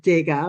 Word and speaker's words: Degas: Now, I'm pronouncing it DGA, of course, because he was born in France. He was a Frenchman.